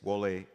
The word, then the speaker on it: Wole: It's Wole Soyinka, by the way.